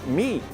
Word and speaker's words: meat: A pronúncia é meat. Meat. Mas falando rápido, esse T nem vai ser escutado.